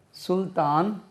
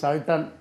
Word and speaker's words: Sultan: சுல்தான் சுல்தானா. இது சல்டன். ஆங்கிலேயர்கள் இது சல்டன் அப்படி என்றும் உச்சரிப்பாங்க. பட் நம்ம வந்து இது இந்தியன் வேர்டு. அது சுல்தான் ராஜா.